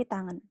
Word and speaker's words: tan: Tan ini bukan tangan ya. Bukan dibaca tan gitu tapi tangan. Ya, tangan.